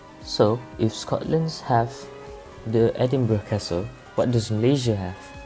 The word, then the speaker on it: Edinburgh: the royal mine well first of all it's pronounced edinburgh even though it's spelled edinburgh and edinburgh is